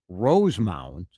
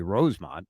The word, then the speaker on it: Rosemount: It's a south metro city that people No, people mess up Rosemount and they want to say Rosemont, which is a suburban Chicago city. Rosemont, but here it's Rose Mount.